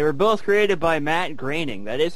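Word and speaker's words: Groening: They were both created by Matt Graining. That is how you pronounce his last name.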